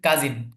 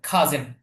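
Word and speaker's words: cousin: সবগুলোকে আপনি কাজিন বললেই খাজে উচ্চারণটা খেয়াল করবেন খাজে খাজে খাজে খাজে মানে আমরা সাধারণত বাংলায় বাংলা যে উচ্চারণটা আছে সেটাতে আমরা যদি বলে থাকি তাহলে আমরা সাধারণত এটা বলি কাজিন কাজিন কিন্তু সঠিক উচ্চারণটা কি হবে খাজেন আমরা এটাই শিখব সঠিকটাই শিখব আচ্ছা দেখুন মাই ফ্রেন্ড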